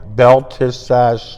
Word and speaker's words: Belteshazzar: Belteshazzar. Belteshazzar.